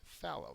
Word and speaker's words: fallow: your test um uh the first syllable is accented and I'll go through these one by one adjective plowed but not seated inactive okay so this field right here this picture is phow they plowed it because